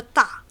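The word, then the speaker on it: 大: Okay, this word is pronounced da and means big or large.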